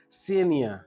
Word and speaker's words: Senia: Senia.